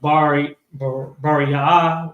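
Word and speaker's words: Beriah: and Bariah, It's pronounced Bariah, which means with a friend.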